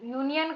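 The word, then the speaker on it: union: अ यूनियन, यूनियन का यू का वाई यू ऐसे होता है।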